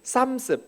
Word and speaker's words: Psalms: 푸살미, 이 푸살미에서 영어 성경에서 시편 할 때는 삼스, P가 이제 영어에서는 묵음이 돼서 삼스라고 하는 영어 성경에 PSALMS라고 하는 것이 저 푸살미에서 나온, 라틴어에서 나온 영어고요.